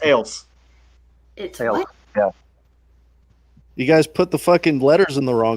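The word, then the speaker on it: Acle: alpha charlie lima echo it makes me want to say ankle but i know it's actually it's ales you guys put the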